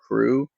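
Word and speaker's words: krewe: utmost importance and and I say crew and even this may show you be a little example like I'm from Southern Louisiana our CEO is from Southern Louisiana and in marra we have Cruz it's spelled with a k k ewe and your Marty gr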